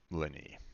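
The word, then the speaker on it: Lyney: for that maybe it's just a thought it's pronounced Lenny oh okay all right Lenny gotcha I'll I'll try to remember that all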